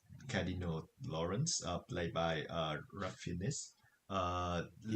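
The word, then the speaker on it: Ralph Fiennes: I don't know why you pronounce it this way, but his name is pronounced Ray Fine. Oh, yeah. Ray Fine.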